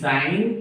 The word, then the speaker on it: sine: बेटा, साइन theta, SINE, साइन theta, क्योंकि theta के मुताबिक लिख रहे। इसको शॉर्टकट में या SINE नहीं लिखते बेटा, SIN थीटा, सिन नहीं, SIN सिन होता, सिन थीटा नहीं बोलना, साइन थीटा।